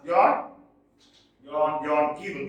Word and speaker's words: Keble: John Keble, yes, he is pronounced as John Keble, yes, John Keble.